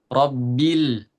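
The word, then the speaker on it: رَبِّ: Cuman di rabbil jangan dipantulkan. Rabbil. Rbil tapi kayak mengalir aja. Rabbil rabbil alamin.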